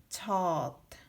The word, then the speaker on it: 젖: And last one, 지읒 plus 저 plus ending consonant 지읒 is 젖. So when we're using the ending consonant 지읒, it pronounces D.